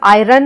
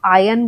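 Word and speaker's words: iron: Are silent है, आयन, world. इसमें हम आयरन नहीं बोलते, हम आयन बोलते हैं।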